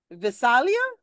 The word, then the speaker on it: Visalia: Visalia, California.